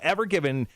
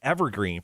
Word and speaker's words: Ever Given: added an extra e but you're close uh ever given is actually was two words it was just